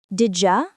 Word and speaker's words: did you: The phrase did you often sounds like Didja in natural English. Yes. For example, Did you go out sounds like, did you go out?